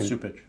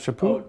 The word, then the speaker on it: Chaput: Supich. No, Charles Chaput.